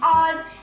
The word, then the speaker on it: hour: For example, an hour, an honorable boy. In these examples, H is starting, right? But when we read it, H is silent.